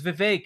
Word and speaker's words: Vivek: Because Vivek, it rhymes with cake.